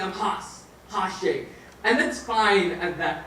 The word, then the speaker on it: Hasnain Shaikh: I am, what I do, my name is Hasnain Shaikh. He introduced me as not Hasnain Shaikh. I don't know where that came from. But it's Hasnain Shaikh. And it's not even that, it's Hasnain Shaikh.